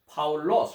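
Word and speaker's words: Παῦλος: He is the Paul, which is a Greek pronunciation is Paulos, right?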